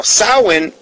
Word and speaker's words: Samhain: celebrates their God called Lord Solomon okay now saman is actually spelled s am h AI n sounds like Samhain but sound is actually the